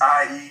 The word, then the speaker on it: iE: a little bit but it's still pronounced the same way IE so I do go by just IE letter IE that's my rap name